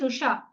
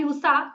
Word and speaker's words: Usha: My name is Usha. If people call me Usa, how hurtful it would be for me to listen to that.